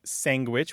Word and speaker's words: sandwich: messed up anyway I can think of four pronunciations of this word we say sandwich which is standard we say sangwich which you point out we say sandwich um